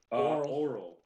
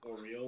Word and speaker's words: Auril: Oral. Oral. Oral. I think it's actually pronounced Oriel.